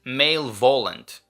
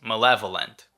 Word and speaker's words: malevolent: I've been saying it as malevolent when it's malevolent.